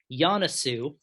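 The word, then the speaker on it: Joensuu: and the uh the place in finland is pronounced yanasu i made sure to look that up even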